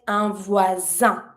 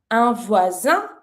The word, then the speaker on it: voisin: Then, a neighbor is un voisin. Here, pronunciation-wise, s is between two vowels, so you pronounce it like a z sound. Un voisin, a neighbor.